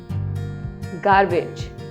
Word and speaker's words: garbage: Garbage. Garbage. But the correct pronunciation of this word is garbage. R is silent here.